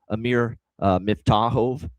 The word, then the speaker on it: Amir Miftakhov: So, I made sure I looked it up for uh Amir Miftakhov. And that's how you pronounce it for this kid.